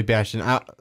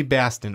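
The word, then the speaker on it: Batson: I keep wanting to say Bastion because of Overwatch. Yeah, I do too. I keep Billy Baston, yeah. It's Billy Baston.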